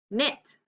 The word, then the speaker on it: knit: W now let's look at the sneaky case knit I can knit a blanket K in front